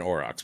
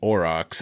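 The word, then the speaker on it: aurochs: Um uh you guys have heard of an orox before.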